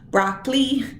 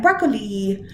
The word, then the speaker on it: broccoli: If you're in Paulding County, you might say that this word has only 2 syllables, broccoli, but really it has 3, broccoli. Although we don't always say it so definitively as that. Broccoli, broccoli. There's 3 syllables in there. The question is, where does the stress go? Broccoli, broccoli, broccoli. It's on the broccoli.